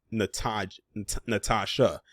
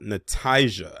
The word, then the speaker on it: Nataijah: Darius Tyrone Hall and Nataijah Fields. I hope I'm pronouncing her name correctly, because it is spelled different. It's not pronounced Natasha. It's pronounced Nataijah. I believe it's Nataijah.